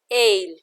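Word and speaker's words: aisle: Rasta Rasta ale ale we will not pronounce s in this word we will say it as ale bhayankar awful awful shishu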